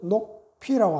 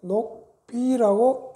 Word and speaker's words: 녹비: 사슴 가죽은 녹피라고 안 하고요. 녹비라고 읽습니다. 요거 조심하세요.